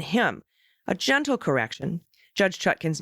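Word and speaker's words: Chutkan: pronouns he and him a gentle correction judge chutkin's name is pronounced chutkin not chutken one more thing is that the co-owner of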